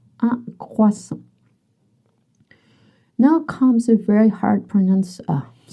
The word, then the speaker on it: croissant: Just remember that you don't pronounce the T. Even if you have some trouble with the creux, it's croissant, not croissant. Un croissant.